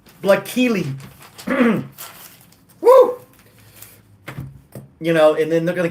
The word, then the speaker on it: Blaykkelee: It's, if I can pronounce it, Blakeely. I need to write this down so you guys can see what I'm doing here. This is this is just stupid. It's Blakeely.